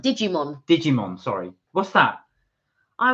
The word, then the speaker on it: Digimon: The Yellow Submarine uh is it dig meon digim dig you have to pronounce that Digimon Digimon sorry what's that